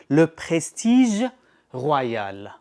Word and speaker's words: Le Prestige Royal: You can just pronounce it your way, but the correct pronunciation, Le Prestige Royal by Khadlaj.